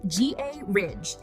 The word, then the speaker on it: garage: Garage. British, G-R-A-H-Z-H. American, G-A-Ridge.